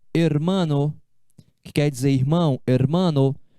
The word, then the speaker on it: hermano: O H em espanhol é uma letra sempre muda. O H é mudo, nunca tem som. Não, o H não tem som em espanhol. Então aqui eu leio, ó, hermano, que quer dizer irmão, hermano.